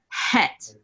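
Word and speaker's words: חית: in ancient Hebrew it was really het it was a hard H sound het so it was more like in the back of the throat and this I mean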